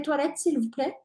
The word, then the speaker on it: toilettes: la frase uso de toil s recuérdense que la t no se dice al final la s no se dice al final y por eso pronunciamos así toil yo fui a París